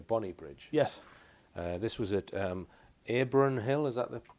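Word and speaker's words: Abronhill: This was at Abron Hill, is that the correct pronunciation?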